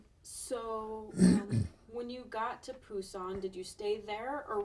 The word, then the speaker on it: Busan: And then we went to Busan, which is now pronounced Busan.